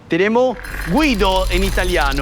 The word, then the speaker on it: Guido: Et ici, en train de faire des manœuvres, nous avons "Guido", prononcé à l'italienne. "Guido" en italien, "Guido" en argentin.